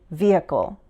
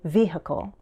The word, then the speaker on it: vehicle: With this word, I usually say vehicle, vehicle. But some Americans might insert an H sound and say vehicle.